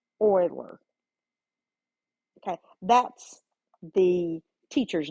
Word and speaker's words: Euler: examples okay this is called an Euler it's pronounced Euler okay that's the teacher's name or the professor doctor uh mathematician's name so Euler it looks like Euler but it's Euler so he has a diagram it looks a